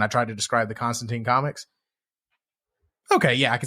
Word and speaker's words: Constantine: Like, it rhymes with turpentine. Constantine.